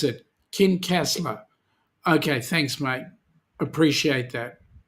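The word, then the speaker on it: Kincasslagh: Daniel odonnell oh yeah okay how do you pronounce it kin castler okay thanks mate appreciate that thanks for the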